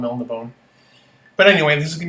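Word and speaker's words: Melniboné: I think in the books it's Melnibone, but because it's got the accent on the E, which I'm not going to include here, so we'll just call him Melnibone.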